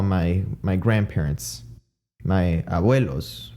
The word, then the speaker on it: abuelo: them avuelo and abuela now if you hear that correctly a vuelo i would pronounce it with a v avuelo avuela but the word abuelo has a b in it not a v a v as in the name victor it doesn't have a v it had a